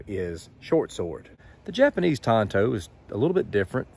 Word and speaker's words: Tanto: the conclusion that I have come to is Tonto Tonto I literally went out and looked up the American pronunciation of that word now Tanto is what some of you are wanting to